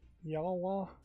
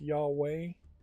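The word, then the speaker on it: Yhwach: I believe this is pronounced Yawwa. uh launches December 3rd for season pass owners. December 10th fall. It might be more appropriate to pronounce it as Yahweh because yeah, inherently in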